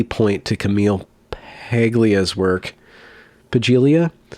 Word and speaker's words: Paglia: cope very vaguely point to Camille heglia's work pagelia palia palia there's the one where you don't pronounce thank you that's a good example okay Camille Paglia who says that transgenderism broadly defined crops up